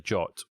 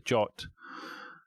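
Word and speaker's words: JWT: Because based on the jot, that's how I pronounce it anyway, I JSON Web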